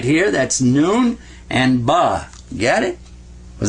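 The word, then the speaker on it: نون: It makes the sound of na.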